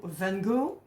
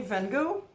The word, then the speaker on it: van Gogh: the Dutch painter, but you don't say Van Gogh, it is Van Gogh. Sound you need to have a little bit more.